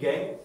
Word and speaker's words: gangue: Spelling है GANGUE, गैंग।